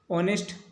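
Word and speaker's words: honest: और ऑनेस्ट का जो प्रोनाउंसिएशन है आपको पता चल रहा है हिंदी का जो है वोवेल है, और जब हिंदी का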